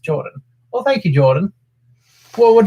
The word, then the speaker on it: Jordan: mind by the way my name is just pronounced Jordan well thank you Jordan